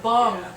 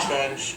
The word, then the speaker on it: Bunge: I thought it was bong. Many people do, but I pronounce it bunge.